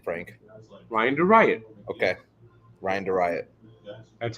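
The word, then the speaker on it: Theriot: Ryan DeRiot. Okay, Ryan DeRiot. That's how it's spelled.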